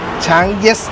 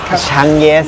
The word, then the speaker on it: Changyes: So, how do you pronounce the name? Chang Yes. Chang Yes, don't mispronounce it!